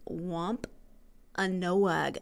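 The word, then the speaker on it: Wampanoag: the wampo wamp wamp I can say this wamp a noag I was trying to put too many syllables in their Wampa noag Indians held their feast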